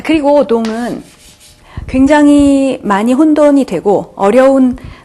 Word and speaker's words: dont: 자, 마지막은 동. 자, 희한하게 생겼죠? 자, 이거는 영어의 don't로 자꾸 생각하셔서 이걸로 착각하시는 경우가 있는데 자, 발음은 동. 끝에 때 발음은 하지 마시고요. 동 이렇게 읽어주시면 되겠습니다.